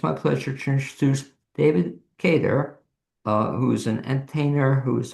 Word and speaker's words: Cater: And that and this David and I'm pronouncing it David Kedar. You you're spot on. unusually uh most people pronounce it Carter.